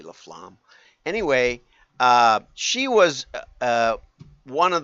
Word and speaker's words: LaFlamme: But what really triggered this whole thing, they say, is that Lisa Laflamme, I suppose it's pronounced. Us English speakers would say Laflame, but it's probably Laflamme.